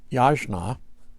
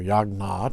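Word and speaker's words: यज्ञ: However, when I got to, the word in Sanskrit is yajna, okay, or yagna, depending upon your pronunciation, I was, the one word translation is worship.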